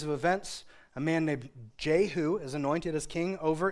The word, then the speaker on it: Jehu: She's like, Jehu. You have to say it like that. Like in my Bible, that's how it's like. Jehu.